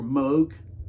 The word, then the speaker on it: Moog: vocals Josh Minaj on guitar and vocals and Moog or Moog if you want to pronounce it right right bass is uh Nicole